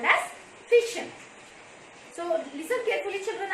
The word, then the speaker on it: fission: one is called as fission so listen carefully children i am not pronouncing that fusion fusion means it's opposite